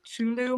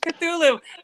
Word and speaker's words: Cthulhu: And so, the whole, I don't even know how to pronounce it, the Chulu monster. Cthulhu.